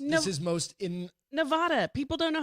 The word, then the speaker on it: Nevada: I know in New Hampshire, everybody says like Nevada or whatever, or maybe it's Nevada. not Nevada. It's ad in the middle. Nevada.